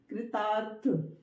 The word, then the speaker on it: कृतार्थ: उच्चारण करेंगे इस वाले रा का था से पहले, कृतार्थ, कृतार्थ, कृतार्थ, ठीक है।